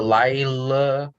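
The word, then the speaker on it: לילה: You've got a hey at the end because and you don't pronounce the hey at the end after an ah sound because it's similar to the yud.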